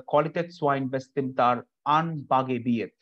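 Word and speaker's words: Qualitätswein bestimmter Anbaugebiete: It says Qualitätswein Bestimmter Anbaugebiet. Qualitätswein Bestimmter Anbaugebiet.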